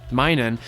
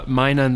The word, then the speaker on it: Minun: bring in my mini minun sorry I'm trying to say mine on the right way from now on he comment on my previous video let me know I was pronouncing it incorrectly I Paul mine and